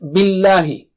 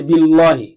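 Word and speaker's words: بالله: Let's take the next word, billahi. Don't make the lam thick here. Don't say billahi. No, just the normal lam.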